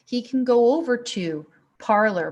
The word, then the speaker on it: Parler: can go over to parler parlay us as I think it's more correctly pronounced parlay is a alternative platform